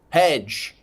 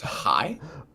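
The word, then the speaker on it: Hej: Hedge. Hedge. It's pronounced high.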